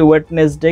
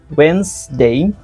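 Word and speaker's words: Wednesday: আছে আমি আপনাদের উচ্চারণগুলো শিখিয়ে দিচ্ছি এটা আমরা উচ্চারণ করি ওয়েডনেসডে কিন্তু এটা হবে ওয়েন্সডে লাইব্রেরি আমরা যেটাকে উচ্চারণ করি লাইব্রেরি উচ্চারণ হবে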